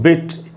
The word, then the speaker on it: bit: और ये दोस्तों बिट आप देख रहे हैं छोटी ही है, उसके नीचे मैंने एरो का निशान, तीर का निशान लगाया, यानी इसको तेज़ी से पढ़ के निकलना आगे, बिट, अ बिट, little बिट।